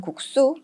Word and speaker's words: 국수: 국수나 깍두기와 같은 표현들 실제로 발음하는 과정에서는 국수 또는 깍두기 이런 식으로 된소리 발음이 나지만 표기하는 과정에서는 이와 같은 된소리를 적지 않는다라는 뜻이죠 따라서 여러분들께서 싹둑이 아든